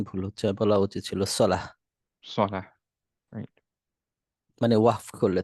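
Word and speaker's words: صلاة: মুসলিমাত আর যেমন আমরা বাংলায় বলি সালাত সো সালাত বললে উচ্চারণটা ভুল হচ্ছে মানে শব্দের অর্থ পরিবর্তন হচ্ছে না কিন্তু উচ্চারণ ভুল বলা উচিত ছিল সালাহ সালাহ রাইট মানে ওয়াহফ করলে থামলে পরে হ্যাঁ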